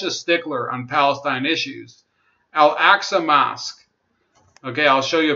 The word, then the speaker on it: Al-Aqsa: But the other issue with him saying that is that he mispronounced it. It's Al-Aqsa. It's not Alaska. There's no Alaska mosque.